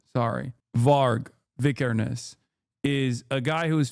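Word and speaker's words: Varg Vikernes: of like Judaism like Vars Vicaris comes to mind or not V no what is his name I'm saying it wrong what the uh is it var var not Vars sorry var vicares is a guy who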